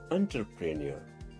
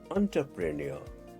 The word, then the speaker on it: entrepreneur: इसको आप किस तरह से प्रोनाउंस करेंगे? इसे आप कहेंगे एंटरप्रेन्योर। एंटरप्रेन्योर आर का उच्चारण नहीं होगा।